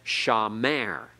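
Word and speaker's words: שָׁמַר: of the word so a word like sha Mer we accent on the last syllable it's not accented on the first it's not Shawn there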